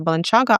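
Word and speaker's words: Balenciaga: Беленсяга, до речі, мені Іра сказала, що правильно вона має вимовлятися Баланчага, але якщо я буду вам так казати, то ви просто не зрозумієте, про що я, напевно.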